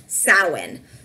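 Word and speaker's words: Samhain: on the screen what's actually spelled but it's pronounced sow in the Celts Wood celebrates the new year on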